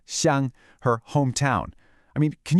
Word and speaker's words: xiāng: She asked to leave her xiāng, pronounced xiāng, her hometown.